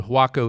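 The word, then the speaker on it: Huaco: about how does Waco get its name the hako Indians and that's spelled interestingly right yeah h u a o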